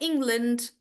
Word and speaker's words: England: Also, guys, all the countries that end in land, you don't pronounce it as land. You again make it really short. So it's more like England, Scotland, Iceland. So again, you don't pronounce the A, you make it shorter.